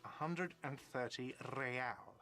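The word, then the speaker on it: réal: all not so fast you owe me 130 Royale what's real oh excuse me you owe me 130 real he pronounce PR the r with a mock aristocratic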